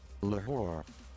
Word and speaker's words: Lahore: Let's have a look and see how it's pronounced. Lahore.